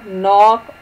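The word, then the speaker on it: knock: अब आप देखें, आप पहचान गए होंगे बिल्कुल सही, नाइट और नॉक में जो रेड कॉन्सोनेंट्स हैं वो साइलेंट हैं।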